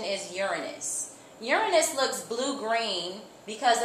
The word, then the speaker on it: Uranus: of ice and rock in its own orbit Uranus I know you have heard it being called uran braus in the past but the correct pronunciation is Uranus Uranus looks blue green because of the methane